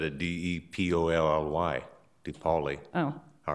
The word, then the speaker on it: DePaoli: Then he goes down slowly, and my car was already on North DePaoli, and this big truck is coming up.